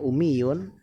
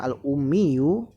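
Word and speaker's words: الأمي: Ummiyu atau umiyun ya. Kalau tanpa alif lam dibacanya umiyun. Karena ada alif lam dibacanya al-ummiyu.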